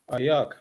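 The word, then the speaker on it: איך: Ayak.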